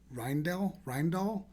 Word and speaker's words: Rijndael: And then AES with the advanced encryption standard, which I always get the name pronounced incorrectly. It's Rijndael, RIJN, whatever, you'll see it.